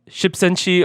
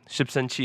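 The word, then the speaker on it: 십센치: also known as like, so if you wanted to type it, you could type it's a 10, like the numbers, and then CM. So Shipsenchi is how you say it in Korean.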